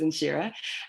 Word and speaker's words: Nhyira: I know it's spelled Nhyira, and people want to say Nhyira, but it's Nhyira.